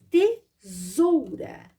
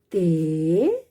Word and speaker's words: tesoura: vogais então eu vou pronunciar este s com som de z tesoura mas vou sim utilizar o s porque a regra diz que entre duas vogais eu coloco a letrinha s tesoura tesoura tesoura a próxima palavra é